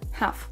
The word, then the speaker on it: half: Attention donc à bien prononcer les H là où il en faut, comme dans le mot halftime, halftime. On a aussi la même erreur dans second half, second half, où là il faut aussi prononcer le H dans le mot half.